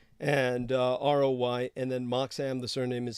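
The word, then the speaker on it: Moxham: like Rob Roy and uh Roi and then Mark Sam the surname is spelled m-o-x-h-a-m all right thank you thank you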